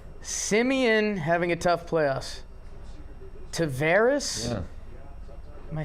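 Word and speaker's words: Taveras: Tavares. Yeah. Am I saying it right? Tavares, yes.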